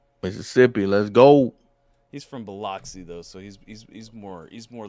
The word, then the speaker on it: Biloxi: with it but uh yeah it's cool it's pronounced biloxi you get you getting into uh you getting